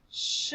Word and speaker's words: should: do you notice it still has that OD part just like the word could so they're Rhymes but yeah that's sh diagraph at the beginning like in shine or sh should all right let's spell